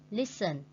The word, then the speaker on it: listen: Listen. Listen is mean nghe, and we put the stretch on the first syllable.